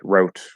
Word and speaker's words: wrote: where in rap write wrote etc it's the w and the r are right next to each other and the w is just spelling it's not actually a pronunciation it's a silent w um in fact i